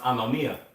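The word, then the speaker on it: ἀνομία: And when you read that verse, because iniquity shall abound, when you go into that word iniquity in the Greek, that word is pronounced anomia.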